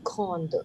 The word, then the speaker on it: grande: La maison est très grande. How? Et la maison est très, très. The last S is silent. Grande. Last E silent.